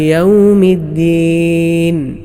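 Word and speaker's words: يَوْمِ الدِّين: അതെങ്ങനെയാണ് അങ്ങനെയല്ല എന്നാൽ മറ്റു ചിലർ ദാൽ ഇല്ലാത്തതുപോലെ മാലിക് യൗമിദ്ദീൻ മറ്റു ചിലർ ദാലിന് ശദ് നൽകാതെയും ഓതാറുണ്ട് അതും ശരിയായ രൂപത്തിലുള്ള ഉച്ചാരണം അല്ല കാരണം ശദ് നഷ്ടപ്പെട്ടു പോകാൻ പാടില്ല ആ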